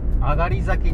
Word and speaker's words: 東崎: 東崎と書いて上がりです。日が上がるということで上がり崎でございます。